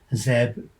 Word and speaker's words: ZOME: How must ZOME be pronounced? Apparently, they tell us, it uses the Z from zero and rhymes with home, so zome.